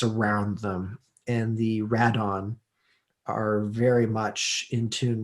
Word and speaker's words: Rodan: Well, they pronounce it Radon when you're watching it.